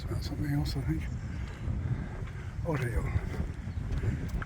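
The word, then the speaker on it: hórreo: And I looked up the word because I didn't want to pronounce it incorrectly, although I probably still will. Oreo. Oreo. H-O-R-R-E-O.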